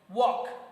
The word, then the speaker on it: walk: Walk. Okay, in walk there is also L silent.